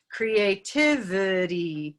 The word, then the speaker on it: creativity: nice schwa sound v creativity ah and green at the end so we have a lot of little colorful syllables in our word and one syllable that is reduced to schwa creativity okay um i